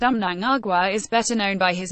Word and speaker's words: Mnangagwa: Mugabe's most brutal crackdowns on dissent naya-a I pronounced Amnon Agua is better known by his nom de guerre